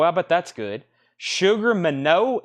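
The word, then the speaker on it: Minott: We have Sugar Minot Showcase, $49.99 from Jamaica. Boy, I bet that's good. Sugar Minot, M-I-N-O-T-T. I don't think that's pronounced Minot.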